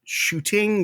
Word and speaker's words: Shooting: out with the Safari Shooting Gallery uh the reason why there's the G that you pronounce is because it was on Main Street and people were proper uh and that was